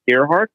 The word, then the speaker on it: Ehrhart: Steve Ehrhart. Mm-hmm. Is that how you pronounce that?